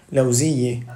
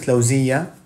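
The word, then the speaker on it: لوزية: In Beruit, I think they would pronounce it lawziyeh. In Saudi, they would pronounce it lawziyeh.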